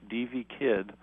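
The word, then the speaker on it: Devvy: Kidd, and her first name is spelled D-E-V-V-Y, D.V. Kidd.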